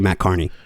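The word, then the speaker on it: Matt Kearney: song it's spelled Kierney you would think it's pronounced that way but it's actually Matt Carney he got that new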